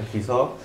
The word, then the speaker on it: Ki-seo: O Kiso, más que está mejor pronunciar Kiso.